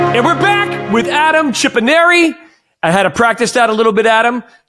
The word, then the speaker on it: Chipponeri: And we're back with Adam Chipponeri. I had to practice that a little bit, Adam. Chipponeri. I said, like a canary, but with a chip in front of it. Chipponeri.